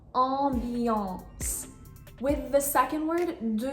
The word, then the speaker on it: ambiance: So the pronunciation for the first one is ambiance. You have 2 nasal sounds in there, A, M, followed by another consonant, B, and then the second nasal sound is A, N, followed by another consonant, C.